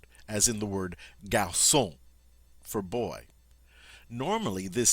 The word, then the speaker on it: garçon: But for some reason, the French have chosen to make this a soft C sound. So to indicate that, they put a cedilla underneath it. Tells you, hey, this should be hard, but let's pronounce it soft. And so we have garçon.